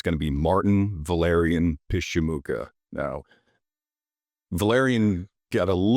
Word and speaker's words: Pyszczymuka: And It's Ukrainian in origin, and it's pronounced Pyszczymuka. Pyszczymuka.